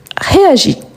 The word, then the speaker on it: réagit: Ici, on change, on a le T à la fin, mais dans les trois cas, on ne les prononce pas, ni le S ni le T.